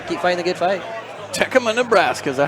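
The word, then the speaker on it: Tekamah: Tecuma, Nebraska, is that how you say it? Tecamaha, not Tecamaha.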